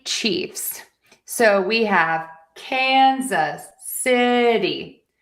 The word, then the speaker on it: Kansas City: Kansas City Chiefs. So, we have Kansas City. I wrote a D here because this is a flat T situation. Kansas City.